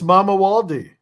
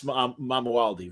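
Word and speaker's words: Mamuwalde: Prince Mamawaldi. Oh, pardon me, Prince Mamawaldi. Very cool. He never made it to the king stage yet. Count Dracula thwarted that. Spoiler alert. But yeah, Prince Mamawaldi.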